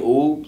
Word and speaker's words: Uub: No, it's well, my name Oob, UUB, yeah, it's spelled like Dragon Ball.